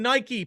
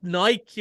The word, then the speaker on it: Nike: For 20 years, when I've been saying Nike, people have been going, it's called Nike, And I'm finally, Shamey, they're making a movie where they say Nike every 15 seconds. And still people will say it wrong, and that's fine, but stop correcting me.